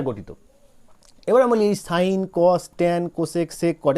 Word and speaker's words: sin: ধরো আমরা সবাই জানি SIN, অ্যাকচুয়ালি উচ্চারণ হয় সিন, কিন্তু সিন নয়, আমরা এটা উচ্চারণ করব কি, উচ্চারণ কিন্তু আমরা করব সাইন।